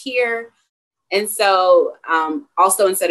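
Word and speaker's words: hir: use things like uh h-i-r which i think is pronounced here and so um also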